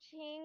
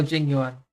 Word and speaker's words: Jing Yuan: Oh my gosh, the General Ching one. How do you pronounce his name? General Jing Yuan.